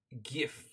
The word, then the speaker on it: GIF: what you say sarcastic it's pronounced GIF it's got a g in it are you going to